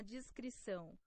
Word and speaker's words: descrição: Oh, so that weird C is that's how you say it.